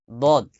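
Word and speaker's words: ضاد: দদ উচ্চারণ যেন দালের মতো না হয়ে যায়। ওয়ালাদ-দল্লিন, ওয়ালাদ-দল্লিন, ওয়ালাদ-দল্লিন, বাংলা উচ্চারণ দিলে হবে না। ওয়ালাদ-দল্লিন, একটু মোটা করে উচ্চারণ করবেন।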